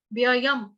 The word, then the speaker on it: व्ययम: अभी कई लोगों को व्ययम के उच्चारण में प्रॉब्लम होती है। उसका कारण ये होता है कि उनको ये दो य जो इकट्ठे हैं ना, यहाँ पे उनको दिक्कत हो जाती है, व्ययम। तो आपको क्या करना है, एक इसके साथ बोलो व्यय, एक इसके साथ बोलो यम। वो आगे ना दोनों य का उच्चारण होगा ना।